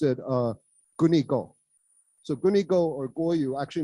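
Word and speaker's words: 国語: And so the Japanese use those same two characters for guoyu or national language, but they pronounced it gunigo.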